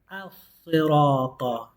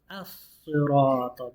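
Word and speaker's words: الصِّرَاطَ: You're not going to pronounce the lam because it's a sun letter. Al-Sirata. As-Sirata.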